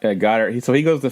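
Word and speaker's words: Goedert: say his last name go go dirt how you say it got hurt got her yep got her he so he goes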